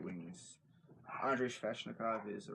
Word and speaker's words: Sveshnikov: after a guy like Rasmus Dahlin or Andrei Sveshnikov. Saying his name wrong. I have his name right in front of me, so I can't read it. Andrei Sveshnikov, and I want this for as many reasons.